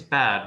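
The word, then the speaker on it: bade: love bad be welcome uh it it is bad right not yes that's the way we normally would pronounce it perfect uh so we performed it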